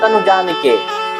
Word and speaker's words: तनु जान के: दायक चार बुद्ध हीन तनु जान के सुमिरो पवन कुमार बुद्ध हीन तनु जानकी नहीं होगा कई आदमी प्रोनाउंस करते